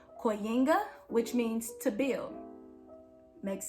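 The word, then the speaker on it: kujenga: is actually derived from a word in swahili that is pronounced koyenga which means to build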